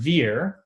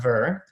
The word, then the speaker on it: Ver: but this individual is Roger fear not Vern as many people pronounce it sometimes and we'll talk about